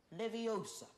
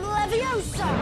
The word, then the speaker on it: Leviosa: Wingardium Leviosa.